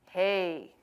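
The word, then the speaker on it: ה: that in Hebrew and sounds should sound exactly like hey hey or hey so depending on the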